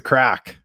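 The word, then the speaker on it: craic: they'll say, "What's the crack?" Oh, yeah. Right. Yeah. Uh and it's it's spelled weird, too. Like C R A I C K or something. That's how they spell.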